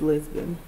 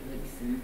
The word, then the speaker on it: Libson: Lisbon. Oh, I'm sorry, you're right. It's actually Libson. Libson. Libson. L-I-B, and it is spelled incorrectly.